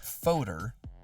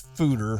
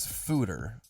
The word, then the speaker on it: foeder: can clean and sanitize it's spelled f o e d e r so it's not foder it's fooder it is fooder what was I saying